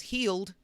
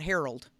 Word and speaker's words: Heald: And Josh's last name is Heald, not Harold.